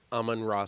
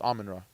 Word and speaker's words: Amon-Ra: I think I said it wrong. I said Amon-Ra St. Brown. It's close. Amon-Ra. Amon-Ra. There you go.